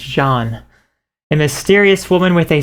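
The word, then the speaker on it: Jeanne: john here and this i always would call her gian i did not know how to pronounce the name but it's john a mysterious woman with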